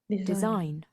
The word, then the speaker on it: design: Design. පළවෙනි එකද? Design. Design. The correct answer is the stress is on the second syllable design.